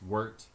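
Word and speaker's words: wort: going into the pot that's called wart it's spelled WT kind of like you'd say wart but we in Brew terms it's wart um we're going to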